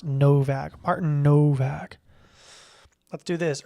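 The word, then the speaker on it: Nowak: I think it's with a W. Typically this last name is pronounced with a V. Yeah, Austrian. Austrian. So I'm all but certain his last name is pronounced Novak.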